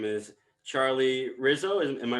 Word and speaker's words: Risso: in a big way her name is charlie rizzo am i pronouncing that correctly it's perfect yes perfect charlie rizzo so tell me how you're doing today you